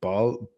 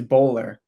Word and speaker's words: Boller: have to correct him it's bowler so like like like sport bowling bowler yeah yeah yeah yeah